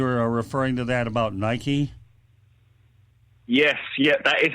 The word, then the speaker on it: Nike: So, anyways, you were referring to that about Nike. Yes, yeah, that is how it's pronounced. Let me just clarify. Nike is how it should be pronounced.